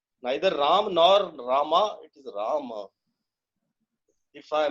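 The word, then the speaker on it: राम: When we say Ram, that's not the right pronunciation. Similarly, Rama is also not right, I feel. It is Rama. Neither Ram nor Rama, it is Rama.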